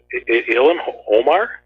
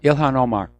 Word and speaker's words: Ilhan Omar: That lady congressman, how do you pronounce her name? Ilhan Omar? Yeah, Ilhan Omar.